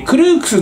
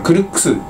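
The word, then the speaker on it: Crooks: 歳男トーマスマシュクルックスえクルークスって読むのかなて思ったらクルックスでしたねえなんかあけ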